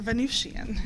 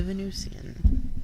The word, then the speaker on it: Venusian: goddess of love the Venusian Oh with an S Venusian it's like Venetian it's it's pronounced both ways but it's spelled with an S so when you see